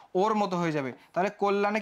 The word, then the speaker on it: কল্যাণ: যে এখানে ও টা কেন হইলো এরপরে দেখো কল্যাণ সেম জিনিস ক তার সঙ্গে অ যুক্ত ছিল এবং তারপরে একটা জ ফলা যুক্ত ছিল থাকার কারণে ও টা কিসের মত হয়ে যাবে ওর মত হয়ে যাবে তাহলে কল্যাণে কি হবে কল্যাণ এই জফলা থাকলে যে চেঞ্জ